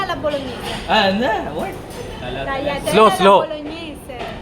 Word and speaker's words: bolognese: How do you pronounce this? Tagliatelle alla bolognese. Tagliatelle Slow, alla slow. bolognese. Bolognese.